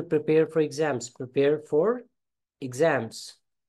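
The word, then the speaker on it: exam: हाँ, इसे बहुत से लोग एग्जाम बोल देते हैं, ये एग्जाम नहीं है, ये है एग्जाम। EX से शुरू होने वाले बहुत सारे वर्ड की जो प्रोनाउंसिएशन है वो एग की जगह इग की आती है।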